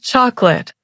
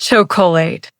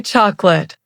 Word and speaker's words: chocolate: And chocolate. Not cholate. We say chocolate.